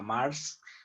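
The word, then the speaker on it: Maersk: Entonces, las holandesas son las empresas más grandes que hay, como la Mars, que se escribe Maers, están en territorio holandés.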